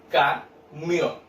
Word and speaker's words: camión: En la palabra camión, ¿cierto?, yo separo en dos sílabas en este caso, porque digo camión.